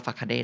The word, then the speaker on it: facade: คำนี้ไม่อ่านว่า facade แน่ๆ facade.